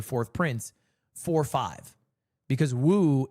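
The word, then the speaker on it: 五: prince for five because Woo is how you say five in uh Chinese in uh Leai's the fourth prince.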